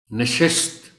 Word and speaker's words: نشست: گا plate form. نشست، یہاں اعراب کا مقصد یہ ہے کہ شین اور سین کو الگ الگ کر کے نمایاں کر کے پڑھا جائے، پتہ چلے کہ شین اور سین الگ الگ بولے جا رہے ہیں۔ نشست، تھوڑا سا احتیاط کی ضرورت ہوتی ہے۔ تعارف، عام طور پر